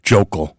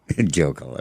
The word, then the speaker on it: Hochul: You mispronounced her name. It's Jokel. Jokel, okay.